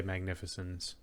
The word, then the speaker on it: magnificens: Would you say soft C or magnificens? I would definitely say magnificens.